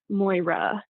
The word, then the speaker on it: Moyra: that elegant, romantic schwa sound at the end of the name. lee uh, moy ruh.